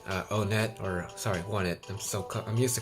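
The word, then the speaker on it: Onett: just love it uh oh net or sorry won it I'm so I'm used to calling it on that I know it's mispronouncing I'm mispronouncing it but won it um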